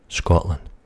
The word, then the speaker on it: Scotland: I would say Scotland. Scotland. Now, there seems to be a lack of a D at the end there, which is another wee quirk of a lot of the words that we say.